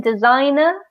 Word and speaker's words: designer: of these words because in designer we don't pronounce the G the G is silent and in photographer the